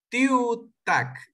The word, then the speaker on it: tiutak: En la palabra tiuta, ¿la acentuación va en la U o en tiu? Tiutak. Tiu, tiu, sería en tiu. Ajá, como la U, en la U. Tiu. Tac. Ajá, porque tac sería la última sílaba. Tiu y tac. Ajá, son dos sílabas. Tiu, tac. Siempre va en la penúltima sílaba.